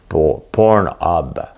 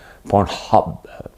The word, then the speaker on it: Pornhub: Pornhub. Il y a un H. C'est ça qui te mélangeait. Hein. Tu ne savais pas s'il y avait un H. Pornhub. Oui, comme ça qu'on se prononce.